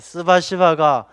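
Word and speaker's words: спасибо: 스바시바. 이 발음이 좀 거시기 하긴 합니다만, 이 스바시바가 좋은 뜻이에요. 감사합니다. 그래서 이게 감사합니다를 욕하듯이 하면 안 돼요. 그냥 스바시바 이렇게 웃으면서 해야 되지, 스바시바 이러면 안 되는 겁니다.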